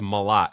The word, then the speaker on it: Malot: My last name is French, but it's Malot. It's M A L O T.